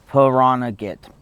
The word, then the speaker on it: Pahranagat: Pahranagat. Pahranagat? Yeah. P-U-H-R-N, when it says phonetically.